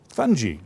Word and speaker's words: fungi: Fungi or fungi, whichever way you want to pronounce it.